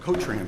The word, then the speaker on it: Cotran: My client's name is pronounced Cotran, thank you.